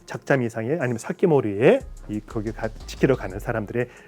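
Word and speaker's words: 防人: 그래서 이때 뭘 만들면 기타 큐션이 방인을 사키모리라고 읽어야 돼요.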